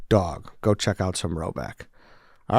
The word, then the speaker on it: Rhoback: Finally, Roback polos are the only polos we wear.